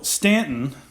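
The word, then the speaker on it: Staunton: it but that doesn't change of that so Stanton is pronounced ant with an au so how do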